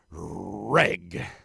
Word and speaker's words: WREG: And our final warm and fuzzy, WREG, or REG. It's pronounced Reg.